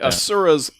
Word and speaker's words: Asura: Asura's Asura? That's actually how they say it in the game.